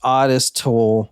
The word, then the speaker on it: Ottis Toole: when we're recording yeah I am it is pronounced odest toll from what the book that I read Plus